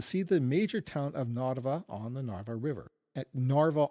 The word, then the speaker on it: Narva: You can see the major town of Nava on the Narva River. Narva on that map looks like Papa in Roman letters. So H A P B A but in Cerrillic it's pronounced Nava.